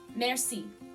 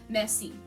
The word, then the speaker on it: merci: So the word for thank you in French is merci. It's very nasally. French is a very nasally language. So you're not really pronouncing the R per se. It's very touch and go. Merci.